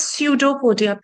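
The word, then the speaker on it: pseudopodia: So basically this is pseudo podia. P is silent.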